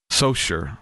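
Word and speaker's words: Saucier: because I got it so sure so it's spelled saucer but it's so sure Mississippi it's so funny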